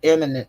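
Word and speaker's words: immanent: of it so so it does pronounce like the word emminent as in time but it spell I am m a n n t uh and and the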